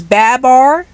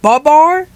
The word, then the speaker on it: Babar: so you're telling me it's Babar not bubar well sorry Babar I mispronounced